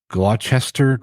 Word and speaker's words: Gloucester: I don't know, kind of double Gloucester. I don't know how to pronounce it.